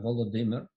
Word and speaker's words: Volodymyr: Right now you have a spelling on Ukrainian, Volodymyr Zelensky. Is that Russian spelling or is that Ukrainian spelling? Volodymyr, it's Ukrainian.